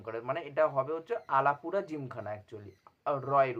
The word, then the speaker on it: Alappuzha: কিন্তু ওরা উচ্চারণ করে মানে এটা হবে হচ্ছে আলাপুরা জিমখানা একচুয়ালি রয়ের উচ্চারণ তা সে যাই হোক মানে আমি এখন